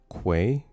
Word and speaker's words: quay: Speaking of which, now that you say that, It's pronounced quay. Say it with me now. With a Q. Quay. Quay. Not what? key. I don't know who says key. It's quay. it is indeed quay.